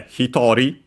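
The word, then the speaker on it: 一人: But yeah, hitori, accent on the to, 1 person.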